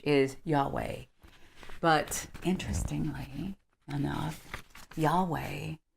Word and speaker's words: Yahweh: H wh in Hebrew the most widely accepted pronunciation of yhw H is Yahweh but interestingly no no Yahweh is also the